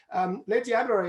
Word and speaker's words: Les Diablerets: Now we are actually, Les Diablerets is actually just up in the mountains above the seat of WBCSD, your new gig, isn't that right?